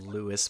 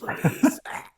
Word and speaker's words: Luis: God, that's like in Resident Evil 4 whenever Luis got called Louis by Leon. It's like the last thing the man heard was his name being pronounced wrong. It's fucking hilarious. Louis! It's Luis.